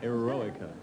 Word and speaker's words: Eroica: You pronounce it Eroica? right. Yeah, that's right. Yeah. My English sucks. No, that's good. Eroica.